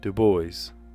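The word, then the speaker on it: Du Bois: tundra civil rights organization co-founded by uh Web Dubois. Dubo. How would it's like Americanized the name? So you say Dboy hanging out with the boys. Isn't that how you pronounce Dubo? Dub boys.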